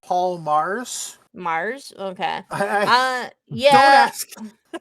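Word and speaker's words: Paul Magrs: Doctor Who in Wonderland by Paul Magers, a novel involving Lewis Carroll and Alice's Wonderland. I think because it's Welsh, it's pronounced Paul Mars.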